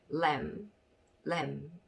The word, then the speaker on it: lamb: 그렇게 적어주셨는데 여기서 보면 이 끝에 있는 B가 M 뒤에 나와 있을 경우에는 묵음인 경우가 있다. 그래서 비읍자 밑에는 B자를 적어주시면 안 되고 그래서 이렇게 조합을 해보면 lamb 이런 발음이 되겠습니다.